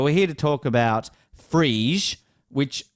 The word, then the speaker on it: Phryge: Now, I've actually looked at the pronunciation. It's Phryge. Phryge. Phyrge. It's Phyrge.